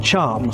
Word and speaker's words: chum: Your thumb rhymes with chum.